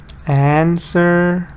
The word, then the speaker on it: answer: Answer stresses on the first part.